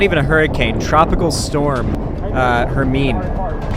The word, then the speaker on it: Hermine: Hermine came and just, ironically, it kind of rhymes with Helene, and came along and just flooded Hernando Beach, which was my neighborhood at the time.